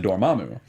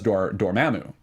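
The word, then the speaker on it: Dormammu: you say this word I've always said dor Mamu Kevin Smith says D Damu interesting I said Damu as well so now I'm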